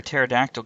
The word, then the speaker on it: pterodactyl: can't you hear a pterodactyl go to the bathroom the P is silent hey Andrea what do